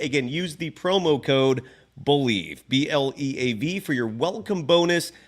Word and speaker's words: BLEAV: Head to BetOnline today, and don't forget to use the promo code Believe. It's the name of the network that we're on. It's spelled BLEAV. Again, use the promo code Believe, BLEAV, for your welcome bonus on your first deposit.